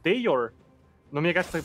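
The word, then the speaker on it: Dajor: Вообще, кстати, Дажор, мы его так, знаешь, как-то русифицированно произносим. Но вообще никнейм его произносится как Дейор.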